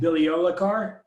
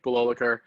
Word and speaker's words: Bilolakar: And I apologize if I ruin your name, but Vivek Biliolakar? Not a terrible butchering of it. But my name's Vivek Bilolakar.